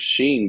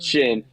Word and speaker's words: Chene: Their rubbers are usually heavier, but you uh those sheen boots with the zippers. Hold on now. Say it right. Oh, yeah. The shin boots with the I can always I always mess it up.